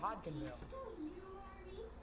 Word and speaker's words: Hodgenville: you guys should be the D is pronounced in Hodgenville all right so hod canville so yeah watch out